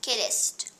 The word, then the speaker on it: Kiddist: My first name was Kiddist. Kiddist, not Kiddist, because we always want, but as Americans, Kiddist. we want to say Kiddist, Kiddist. but it's Kiddist. The accent is on the first syllable.